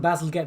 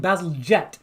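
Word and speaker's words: Bazalgette: I think I would have called it Basil Gett, but I think Basil Jet, Is like it a Basil jet plane, Jet? like a jet plane.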